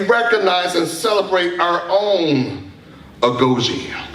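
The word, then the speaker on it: Agojie: You know, and I was really struck at the story about the Ajoli. I know I'm not saying it right. Agoji, that's it.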